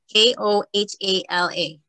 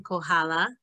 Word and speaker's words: Kohala: So north, and then Heather, if you could just help us with this pronunciation before we move on. K-O-H-A-L-A.